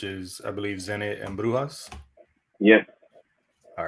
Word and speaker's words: Brujas: They're also known as La Brujas because I found out last season in Spanish it's pronounced Brujas, so I thought that was pretty cool.